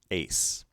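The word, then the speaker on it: εἰς: have humace smooth breathing epsilon yoda combination which again is pronounced a followed by sigma ace preposition meaning into smooth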